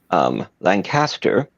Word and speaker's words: Lancaster: I pronounce it Lancaster. I was raised in a British family, and if I try to say it like everyone else does, I'm going to end up interrupting my own flow. So just bear with me. Don't think Wars of the Roses, think Pennsylvania.